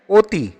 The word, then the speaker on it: অতি: সঠিক উত্তর হচ্ছে এখানে অতি। আ এর স্বাভাবিক উচ্চারণ নেই কোনটিতে?